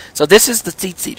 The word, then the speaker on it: tzitzit: They are called tzitzit. I've spelled it T-Z-I-T-Z-I-T. So tzit, but you can pronounce it as if you're looking at two seats and you just say them back to back rapidly, seat, or seat.